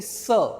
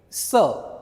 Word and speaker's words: ce: Sir. C E. We pronounce it sir.